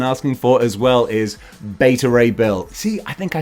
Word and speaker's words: Beta Ray Bill: in my head beta not beta not better beta ray bill i think we've all decided there's a collective community right that's how i'm pronouncing it okay if that's not right that's